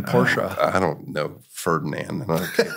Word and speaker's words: Porsche: I can do it Ferdinand Porsche who created the company that's how he pronounced his name porsa I don't know Ferdinand